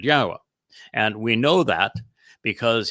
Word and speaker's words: Yahweh: I go through this with you and use these four words because they prove emphatically that the proper pronunciation of Yahweh's name is as I have pronounced it, Yahweh.